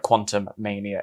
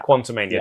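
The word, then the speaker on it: Quantumania: i quite like the portmanteau it's not like quantum mania it's quantum main yeah quantomania do apologize no no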